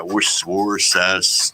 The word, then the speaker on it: Worcester: Yeah, Worcester. Yeah, I get it. Yeah, you try to phonetically spell it out.